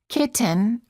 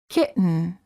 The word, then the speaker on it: kitten: or written say written don't say kitten or kitten say kitten words for practice certain